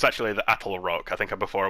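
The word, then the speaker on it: Attlerock: I basically say it wrong it's actually the Apple Rock I think I before I was calling it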